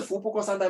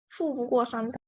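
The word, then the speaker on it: 富不过三代: 那的 How are you pronunciation 不是福不过三代吗？ is 富不过三代。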